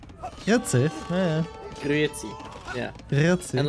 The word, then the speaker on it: Grüezi: Or the worst also in like Eastern Switzerland to say hello, they say Grüezi. Grüezi? Yeah. Grüezi.